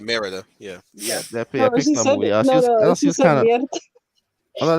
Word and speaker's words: Merida: redhead from brave yeah you said it right merida yeah yeah yeah a lot of move was